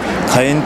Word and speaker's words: 華炎: して花の炎と書いて火炎という着物になりますこれは